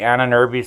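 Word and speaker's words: Ahnenerbe: back here about the Anna nerby society and that's how you pronounce that the Anna nerby Society or the vril society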